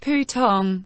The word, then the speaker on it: putong: Pronounced more like ‘pooh-tong, pooh-tong.’ [3] In their confusion, the sheltered disciples shot out spiritual power…: This line was difficult for me to translate.